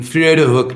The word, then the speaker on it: Vredehoek: you want to Google this, but we're in Vredehoek right now. I'll spell that for you.